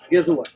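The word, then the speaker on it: gëzuar: Gezua.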